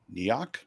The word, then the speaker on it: Ngoc: How would you pronounce that name? Neok? Neok? Isn't the G silent? Knock. Depends. Okay, I got her. Knock knock. Yeah, it's Knock. Kevin Hopp.